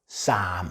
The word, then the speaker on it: Psalm: 그러나 실질적으로 읽을 때는 지금 여러분 들으신 것처럼 Psalm 해야 됩니다. 한 글자 속에 묵음이 2개씩 되니까 들려오는 소리와 실제 쓴 거와 상당한 거리가 있습니다.